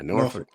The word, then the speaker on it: Norfolk: Norfolk. Yeah, Norfolk.